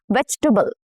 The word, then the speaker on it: vegetable: When we pronounce the word vegetable, the vowels in the second and the third syllables are reduced to the sound which is a very weak sound. This is why we say it as vegetable.